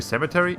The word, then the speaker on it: cemetery: of disney's many rights i really tried seven cemetery with an n like salmon theory but i realize it's actually supposed to be cemetery it's because it's it's because in spanish in spanish it's the same so i keep thinking that oh okay so you just put an n on it but no there's no there's no n in cemetery it's just it's just